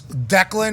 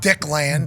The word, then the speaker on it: Declan: Yeah, I would assume it's Declan, not Dickland.